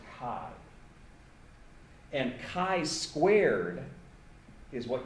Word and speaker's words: chi: here and it's pronounced Kai usually people write Chi but it's pronounced Kai and Kai squared is